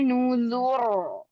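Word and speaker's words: نذر: Ro sukunnya ini berharokat. Ro-nya yang terakhir ini berharokat kasroh. Namun karena dia diwakafkan menjadi sukun. Dilihat di huruf sebelum ro ada huruf zal yang berharokat dhammah. Maka ro-nya dibaca tebal. Wa nuzur. Ya, tebalkan. Di ayat ke-19.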